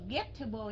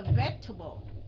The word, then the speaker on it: vegetable: Cái vegetable không có đọc là không có đọc là vegetable nha. Không có đọc cái âm get ở trong đó. Mình trả lời cho Isaac thật đó. Okay, mình đọc là vegetable.